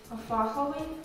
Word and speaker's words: фаховий: Як ви думаєте, з яким наголосом треба говорити? Фаховий, фаховий чи фаховий? Фаховий. І це правильна відповідь.